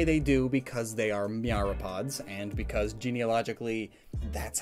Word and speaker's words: myriapod: In fact, the oldest land fossil we have is of a myriapod. I've been pronouncing that wrong the whole time.